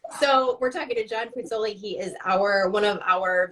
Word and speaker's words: Puzzuoli: I feel like when I say it, I'm like saying the U, and I don't know if I should. Puzzuoli. Puzzuoli.